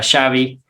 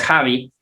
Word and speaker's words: Xabi: y también aquí tenemos al futbolista xabi que sabe no es javi no porque viene del catalán que aún usa este sonido y una historia breve